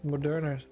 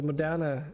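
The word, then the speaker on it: Moderna: great how about you I got my second monner monner God damn it I keep saying it trying to do like an English pronunciation the modana uh uh covid-19 uh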